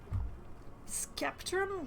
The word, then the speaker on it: Sceptrum: the heart of sceptrum skeptrum really with a hard c i don't like that